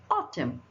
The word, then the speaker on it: autumn: Autumn, autumn, right? N is not pronounced here.